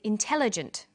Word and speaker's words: intelligent: come across longer words you have to learn which syllable to stress for example we say intelligent increasing and markedly notice that when you stress one syllable the vowels in the other syllables are shortened sometimes these short syllables